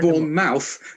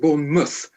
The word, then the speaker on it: Bournemouth: pronounce pronounce correctly born mouth yeah because it's born mouth you pronounce it born mouth oh my God it's very strange I know